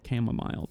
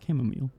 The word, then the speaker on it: chamomile: It reads like chamomile, but it's chamomile.